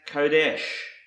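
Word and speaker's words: קֹדֶשׁ: Another Hebrew word that starts with the letter Qoph is pronounced Kodesh.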